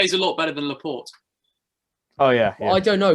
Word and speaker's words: Laporte: No, it's Laporte. I'm pretty sure.